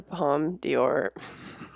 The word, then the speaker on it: Palme d'Or: What is the Palme d'Or?